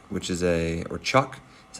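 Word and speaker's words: cuk: make instruments and um I bought a small cook which is a or Chuck is how it's pronounced which is a small Indonesian instrument and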